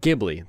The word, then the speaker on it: Ghibli: worthy entry into the ghibli catalog and it's pronounced ghibli by the way uh if anyone is curious